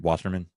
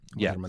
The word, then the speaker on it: Wasserman: He, for example, if no one knows, Michael, I'm pronouncing it right, Wasserman? No, yes. Yeah, right? Wasserman, yeah. Yes. That's right.